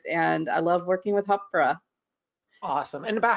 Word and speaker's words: Hāpara: So I spent 2 years saying it Hapara, and then I went on to the community and got schooled in how to pronounce it the correct way.